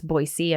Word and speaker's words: Boise: I know somebody else in my comments mentioned it's Boise and not Boise.